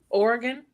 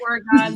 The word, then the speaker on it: Oregon: Say Oregon. Oh. Oregon? What happened? Because you said it. Some people say Oregon versus Oregon.